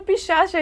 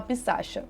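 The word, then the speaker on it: पिशाच: daa entidade de novo só que se escreve pishacha e aí eu fiquei falando pixa e eu acho muito bizarro e nem tava certo tipo eu falei errado se vocês verem esse vídeo a gente postou assim mesmo porque tá literalmente da forma que se escreve mas assim eu fiquei com vergonha depois então aqui eu tô corrigindo a gente vai falar pissaa pesquisando um pouquinho sobre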